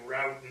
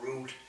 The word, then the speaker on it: route: Did you know that Route 66, and you'll notice that I say route, not route, just the song that was sung pronounced it that way, but it was wrong.